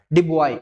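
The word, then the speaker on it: Du Bois: डिबॉय, yes silent है डिबॉय, कॉरा डिबॉय कहते हैं, ठीक है डिबॉय।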